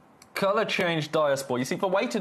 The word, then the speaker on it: diaspore: Right, diaspor. Oh, co-keys. Co-keys. Co-cheese. Don't know. I don't know. It's my honest answer. That's my honest answer. Have a look at this. Color change diaspor. Color change diaspor.